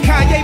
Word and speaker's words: Kanye: It's Kanye, but some of my plaques, he still say Kane.